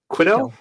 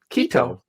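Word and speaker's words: Quito: Uh, the country's capital city is looks like uh is it I'm going to mispronounce this? Quido. Kito.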